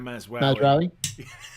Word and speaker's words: Mazraoui: Mazraoui. I'm just impressed you've learned how to pronounce his name.